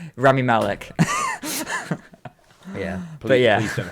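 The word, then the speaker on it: Rami Malek: stuff like you've got um what's his name raymie elec is that his name i think that i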